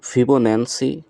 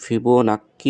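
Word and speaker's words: Fibonacci: নাকি সংখ্যা বা নাম্বার এটা উচ্চারণটা ফিবোনান্সি বা ফিবোনান্সি নাম্বার বলা হয় এখানে যেহেতু ফিবো নাক্কি বলা হয়েছে উচ্চারণ হিসেবে আমরা এটাও দেখতে পারি এখন দেখি সংখ্যাগুলো কিভাবে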